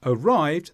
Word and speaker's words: arrived: In the word arrived, the stress is on the second sound.